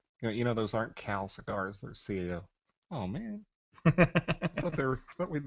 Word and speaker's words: CAO: That is one of the most mispronounced companies in the industry. You got them cows? We get Cal, we get Chow, we get KO, we get Sao, and that was one that really threw me.